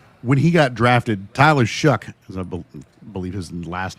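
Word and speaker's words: Shough: And maybe this isn't as big of a surprise because for me, last year when he got drafted, Tyler Shuck, as I believe his last name is pronounced, Tyler Shuck was kind of the laughing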